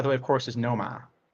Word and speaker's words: Nomar: The correct pronunciation of that, by the way, of course, is Noma. Nomar.